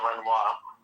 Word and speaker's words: Renoir: It's pronounced Renoir.